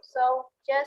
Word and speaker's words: sources: Jadi R-nya memang nggak dibaca jelas ya.